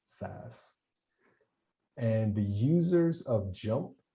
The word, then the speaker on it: SAS: You see it, as JMP, but it's just pronounced JUMP, and SAS is actually just pronounced SAS.